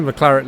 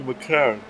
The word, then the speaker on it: McLaren: You're going to expect me to pronounce it right, like McLaren. I know you will never pronounce it right. I keep saying McLaren. I've seen the... Just think, blood. Yeah, I know.